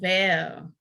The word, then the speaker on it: Lovell: Lovell. Did I say it right? Lovell. So it's like the word Lovell. That is so love pretty. with 2 L's at the end. Yeah. Lovell.